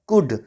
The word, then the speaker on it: could: जब यू के बाद एल आता है तो एल साइलेंट होता है, इसको हम कुड नहीं पढ़ते हैं, इसको हम पढ़ते हैं कुड, क्योंकि एल साइलेंट है।